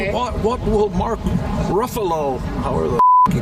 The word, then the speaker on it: Ruffalo: What What will Mark Ruffalo, however the he pronounces his name? Ruffalo. Yeah. Ruffalo. Buffalo.